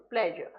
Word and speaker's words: pleasure: This is an example of pleasure. So here this S is pronounced S like this, pleasure.